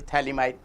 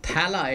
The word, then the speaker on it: phthalimide: Have you heard this name, Gabriel phthalimide? Have you ever heard this name, Gabriel phthalimide? What I'm talking about, Gabriel phthalimide. Gabriel phthalimide. Remember, it's not phthala, it's phthali, and P is silent.